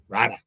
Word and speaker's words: Rida: Some people pronounce it Flo Ritter or Rida. How do you say it? Rida, like with an H.